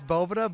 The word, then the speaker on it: Boveda: I saying it wrong is it Bovada it's it is Bovada but hey everyone says bow Vita or it's a bunch of different things so okay we do